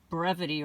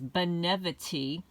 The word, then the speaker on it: Benevity: I pronounced it incorrectly last time. I said brevity or something like that. It's Benevity.